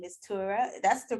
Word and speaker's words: Tura: on here on this episode her name is tura that's the correct way to pronounce your name right you did it correctly